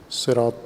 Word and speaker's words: صراط: وسلم نے پسند فرمایا کہ صاد کے ساتھ صراط تلفظ کیا جائے لغت قریش میں، بائیں کہ دیگر اعراب اس کو دیگر سین کے ساتھ تلفظ کرتے ہیں۔ سین یا صاد دونوں